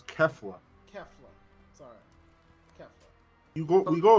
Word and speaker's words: Kefla: So I'm still waiting on Cleffa. If you say her name wrong again, I swear to God, you catch me saying something. Say it wrong again. It's Kefla.